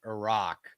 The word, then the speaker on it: Iraq: No, it's Iran and it's Iraq. It's as if it has two Rs, guys.